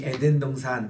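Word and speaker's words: עדן: 그런 강입니다 우리 니 에덴동산 그렇게 얘기하는데 히브리 단어에 보니까 간베 에덴 해서 에가 액센트가 있어요 그래서 에덴 동산으로 그렇게 발음을 하시라고 말씀을 드렸습니다에 오늘도 그 에덴에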